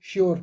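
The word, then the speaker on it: sure: श्योर का मतलब यकीन एस यू श्योर नहीं पढ़ना इसको श्योर ठीक है आर वी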